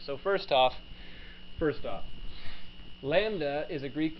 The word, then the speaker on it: lambda: is a real number Lambda so then this is a Greek letter that you may not be accustomed to writing it pronounced Lambda such that the gradient